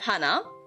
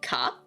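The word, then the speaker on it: 花: You have Hana, which can also be pronounced as Ka.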